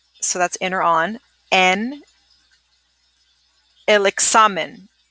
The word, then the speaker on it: hay: This is a silent H, yes, and we pronounce it I.